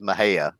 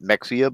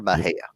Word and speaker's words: Mexia: Moscow sure is um Mexia which is Maha but people call it Mexia because it's Mexi uh Tommy Lee Jones is from Mexia or Maha actually Texas is actually pronounced